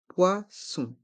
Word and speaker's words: poisson: sont mués du poisson attention ce mot dans ce mot il y a le son W avec les lettres o et I du poison des fruits